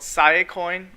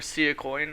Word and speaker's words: Siacoin: look at today is called saya coin or see a coin I've heard it pronounced two different ways I got a request